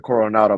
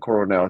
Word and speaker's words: Coronel: I said Coronado. My fault. I meant Coronel.